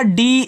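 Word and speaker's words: day: तो याद रखना जब किसी वर्ड के बाद ए और वाई दे दे तो वहां पे आप ए और वाई का जो उच्चारण होगा वह आप ए की मात्रा के रूप में करना।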